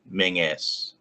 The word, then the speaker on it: Menzies: up most recently, and they've been telling people that it's, as I pronounced it, Menzies. Yeah. Menzies.